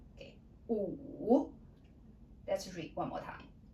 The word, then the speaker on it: 五: 五, 五. W is silent, and then this one is like in English blue.